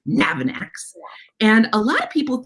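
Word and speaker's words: Navanax: animal names to say it's pronounced nav ah nax navin annex and a lot of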